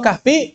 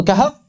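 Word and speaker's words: كهف: Suratul Kahf. Karena kalau Kahfi antum harus konsisten, Suratul Baqarah.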